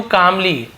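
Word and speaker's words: calmly: बट he said to कामली said याने कहा ठीक है टू हिम यानी उससे कामली यहां पर भी देखिए कामली बस है एल साइलेंट होगा कामली कामली नहीं बोलेंगे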